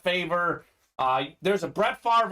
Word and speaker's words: Favre: named after brett favre on draft day they pronounce his name as brett favor uh there's a brett